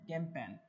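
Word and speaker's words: campaign: ये कैंपेन है, कैंपेन। Okay, कैंपेन, इसमें जी साइलेंट है, आपको दिख रहा होगा।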